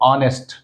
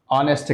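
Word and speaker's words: honest: से स्टार्ट हो रहा मगर हैच का प्रोनाउंसिएशन हम नहीं कर रहे हैं। तो उसी यहां पे एन का इस्तेमाल हो रहा है। प्रोनाउंसिएशन किससे स्टार्ट हो रहा है? ओ से। ऑनेस्ट ऑनेस्ट कहना चाहिए।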